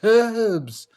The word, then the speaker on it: herbs: It's got a H there, man. It's herbs.